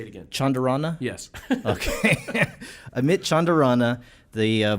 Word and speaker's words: Chandarana: By the way, am I pronouncing your last name correctly? Say it again. Chandarana?